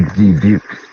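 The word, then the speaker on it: Dubuque: debuk Iowa I rebuke the debuk place rhymes with puke that's not a fluke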